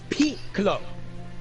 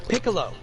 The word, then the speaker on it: Piccolo: they renamed them curly its peak low not piccolo its peak below they never have ever